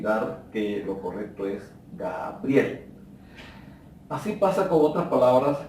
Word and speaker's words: Gabriel: Evitar pronunciar palabras como por ejemplo, hay personas que dicen Graviel. Se entiende el nombre, pero está errado porque la palabra correcta es Gabriel.